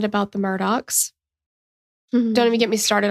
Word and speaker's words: Murdaugh: So if you have eyes and you're seeing it, it appears to be spelled Murdaugh. No? Murdaugh? Yeah. Yeah, like or Murdaugh. Sure, I'll allow that.